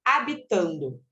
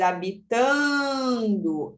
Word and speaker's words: habitando: aquele de letras então então habitando a gente nunca escuta o som do H certo então essa letra aqui não tem fonema depois habitando esse a junto com